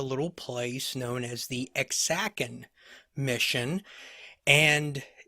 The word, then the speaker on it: Ajacan: And today we're going to talk about a little place known as the Ajacan Mission. And it's interesting that the pronunciation, based on what I read, is Ajacan, but it's actually spelled Ajacan.